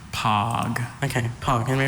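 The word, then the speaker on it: poge: Is there any alternate pronunciations? I have just the one, pog.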